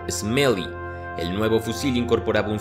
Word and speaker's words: SMLE: por sus siglas SMLE, que en inglés se facilitaba pronunciándolo como Smelly.